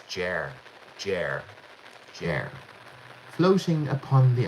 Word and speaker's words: Ger: Is it pronounced jer or jer? It's jer.